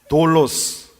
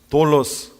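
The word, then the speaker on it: δόλος: 그 사기 사기 가 헬라어로 어떻게 발음이 되는지 아십니까 따라해 봅시다 돌로 쓰 돌로 스 어디서 많이 듣던 바로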